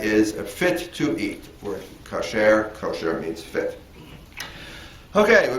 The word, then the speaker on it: kosher: In modern Jewish American, uh, it's usually called kosher. It's how it's usually pronounced with the accent on the first syllable.